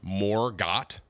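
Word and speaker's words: Morgott: It's pronounced Morgot. Margaret?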